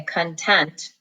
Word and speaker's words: content: Sun that word content we say content the accent is on the second syllable but it looks like con tent okay pause here and